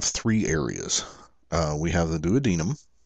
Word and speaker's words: duodenum: We have the duodenum. I've also heard it pronounced duodenum, but the duodenum, which is actually attached to the stomach.